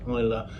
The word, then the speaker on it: Islay: that are between 7 and 10 years old Isa the island where this whiskey is produced I it's pronounced Isa although it's spelled iay is the southern most